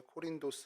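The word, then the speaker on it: Κόρινθος: 맞습니다 어 먼저이 고린도는 이제 코린 코린도 이제 발음을 헬라를 해야 되는데 코린도 이제 뿌리라는 뜻을 갖고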